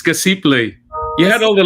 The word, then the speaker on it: Casiple: I think I'm mispronouncing it. It's okay. It's Casiple.